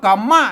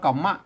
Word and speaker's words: กรรมะ: ไว้ เออ แล ไว้ อัน นี้ อ่าน เป็น บาลี แล้ว เห็น มั้ย ตัว กะ มะ ซ้อน มะ ซ้อน ห่าง มะ เนี่ย มะ ซ้อน มะ เป็น ตัว รูป นี้ เป็น หาง มะ ก็ อ่าน ว่า กรรมะ นะ ครับ อ่าน ว่า